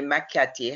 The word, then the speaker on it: Macchiati: Please notice that the Macchiati has two teams. It rhymes with what you sit on in Jamaican parlance.